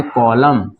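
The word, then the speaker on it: column: जाएगा मैडम ठीक है उसे तरह इसको पढ़ेंगे कॉलम साइलेंट हो जाएगा ठीक है ना इसको पढ़ेंगे इसको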